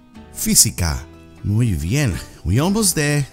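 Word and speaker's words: física: even with this word physica physics fee c car repete physica muy bien we almost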